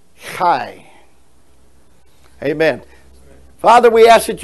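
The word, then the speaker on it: חי: Israel it means life it's Kai it's how you pronounce it so you put the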